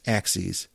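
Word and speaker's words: AXYZ: was made by a company in Canada called axes which is kind of counterintuitive because it's spelled a X Y Z now I always looked at that I've seen the the company name before and I didn't know that it was pronounced axes it just didn't occur to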